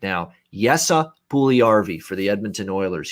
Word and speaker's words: Jesse: So Jesse, and that's how you pronounce it. It's not Jesse. It's not Yessi. It's Jesse. That's how you actually pronounce this name, Puljujärvi for the Edmonton Oilers.